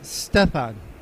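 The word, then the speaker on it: Štěpán: course how is it it's like Stephen but you say step on sorry about slaughtering your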